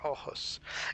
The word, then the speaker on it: Aarhus: airport called Arhus, and that's the way you pronounce it, by the way, Arhus.